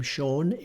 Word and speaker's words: Sean: They all have a tinge of sh to them. You'll hear this when Sean Connery talks, and even the name Sean which is spelled S-E-A-N, or Seamus, which is S-E-A-M-U-S.